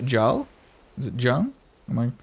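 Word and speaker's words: Gjall: been a little while g is silent so it's pronounced Jal is it Jung am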